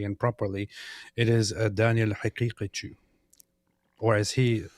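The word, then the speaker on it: Haqiqatjou: represents Islam correctly and properly, it is Daniel Haqiqichu, or as he pronounced it, Daniel Haqiqichu.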